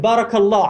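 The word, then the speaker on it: بارك الله: Baraka, si vous ne prononcez pas la voyelle longue, ça veut dire s'asseoir, et plus précisément c'est l'assise du chameau.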